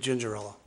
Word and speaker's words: Gingerella: My name's David Gingerella. Oh, Gingerella? Gingerella. Gingerella. Cinderella with a G.